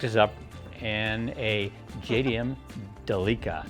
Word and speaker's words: Delica: up and a JDM Delica it's spelled like Celica but they pronounce it like Canadians do Delica anyway it's been featured